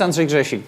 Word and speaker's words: Andrzej Grzesik: pleasure to see you uh my name is andrei jasik but it's very hard to spell it's very hard to say if you don't